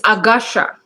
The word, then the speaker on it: Agasha: How do you pronounce it? It's Agasha. Agasha and Agasha.